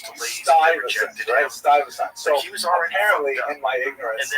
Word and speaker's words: Stuyvesant: And so the guy wrote on the YouTube channel, he says, Americans know it's pronounced Stuyvesant.